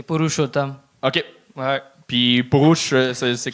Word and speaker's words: Purushottam: Comment on le dit? C'est Purushottam.